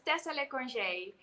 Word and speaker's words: le Conge: pronouncing it right. It's Tessa le Conge.